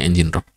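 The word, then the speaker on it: ngrok: Ini kalau di Indonesia kan ngrock ya bacanya engine rock.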